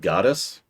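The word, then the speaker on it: Gades: His name is pronounced Goddess, but I kind of refuse to say that.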